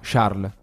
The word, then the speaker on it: Charles: essere ciarle charles a sharm charlie senza s sì perché in belgio non si pronuncia perché si dice charles shar charles così distingue